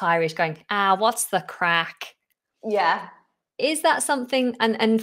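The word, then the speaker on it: craic: And crack isn't spelled as you would expect it, c r a c k. It's spelled c r a i c.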